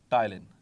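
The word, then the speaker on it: ptyalin: रखना है ठीक है टाइलिन प साइलेंट होता है आमतौर पर सो टाइलन इट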